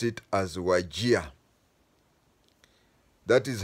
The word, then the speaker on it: Wajir: we called it wajir w a Jr but pronounced it as wagia that is how the name waja came from